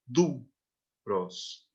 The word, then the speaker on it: duros: Então, nessa última palavra, a tonicidade está na primeira sílaba, duros.